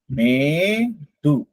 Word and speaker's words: மேடு: மேடு. மேடு. இது பாருங்க 2 கொம்பு இருக்கா? இது நெடில் எழுத்து. அப்போ நம்ம உச்சரிக்கும் போது மே அப்படின்னு உச்சரிக்கணும். மேடு.